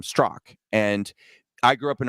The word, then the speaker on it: Straka: like, "Oh yeah, no, it's pronounced Strock." Well, so the point is, I'm very used to people just assuming that my last name is Straka.